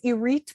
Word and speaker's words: Irith: are listening sure so my name is irate which is not spelled like it sounds but we'll leave that